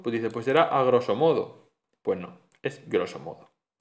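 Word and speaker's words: grosso modo: Otros casos de prótesis ocurre con algunas expresiones del latín a groso modo, no se dice así. La a esa no hay que decirla, es groso modo.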